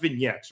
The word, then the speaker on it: vignettes: town where Bandido has had his past It's pronounced vignettes, right? Yes, vignettes.